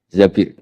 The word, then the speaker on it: Zabir: Di hadis ini bukan bacanya bukan Zubair tapi Zabir.